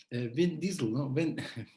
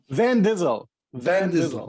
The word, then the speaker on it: Van Dizzle: me so my listeners van dizzle like like driving like van busel but like the actor vince not not like vin diesel no it's van gizzle okay great yeah so